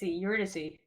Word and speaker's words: Eurydice: Eurydice.